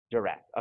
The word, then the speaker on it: DiRAC: Am I saying pronounce it right? DiRAC? DiRAC.